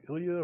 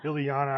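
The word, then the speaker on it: Illyana: It's the first appearance of Ilya Rasputin, aka Magic. She has a bunch of first appearances. Ilyana, I said it wrong.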